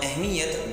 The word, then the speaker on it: اہمیت: ہے۔ تو اہم اور اہمیت دونوں کے دونوں صحیح تلفظ کے ساتھ ہوں گے، اہم اور اہمیت۔ اہم صحیح تلفظ اس کا ہوگا اہم، اور اہمیت کا صحیح تلفظ اہمیت ہوگا۔ پھر ایک اور لفظ